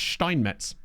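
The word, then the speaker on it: Steinmetz: No, we well his name is pronounced Steinmets. So I've been I've been corrected enough to now say that you know to call him Steiny.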